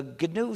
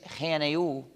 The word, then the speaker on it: GNU: Si dices GNU, otros no querrán decirlo porque suena demasiado difícil, más difícil que GNU.